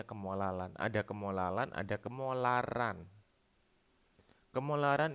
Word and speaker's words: kemolalan: kemolalan kemolalan atau molalitas pakai Elya ini bukan eh cadel tapi memang bacanya kemolalan ada kemolalan ada kemolaran